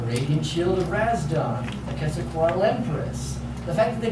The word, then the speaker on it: Quetzalcoatl: I took the official transcription, but that's clearly pronounced as the Quetzalcoatl. It's supposed to be Quetzalcoatl Empress.